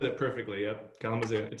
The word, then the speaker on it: Kalamazoo: You are originally from Kalamazoo, Michigan. Did I say it right? You said it perfectly. Yep. Kalamazoo.